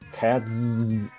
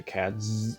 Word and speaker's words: Catz: now here's a fun one to pronounce cats it's a bit of an interesting case honestly